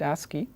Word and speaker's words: ASCII: code or the ASCII code this is typically pronounced ASCII asking stands for the American Standard Code for